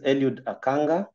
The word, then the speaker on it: Eliud Akanga: again repeat my name so that I can pronounce it the way it should um so my name is elud aanga um as to what aanga means um research